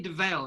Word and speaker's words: Dovale: Is it Dovale, right? I'm saying it correctly. Yeah, Dovale, yeah.